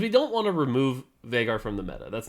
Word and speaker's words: Veigar: So, yeah, I think just to give a little insight into Veigar, I think, or Veigar, that is actually the correct pronunciation.